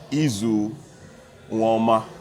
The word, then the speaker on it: Eizu Uwaoma: in background and is no order but Mr ezoo warmer I hope I got that right that's great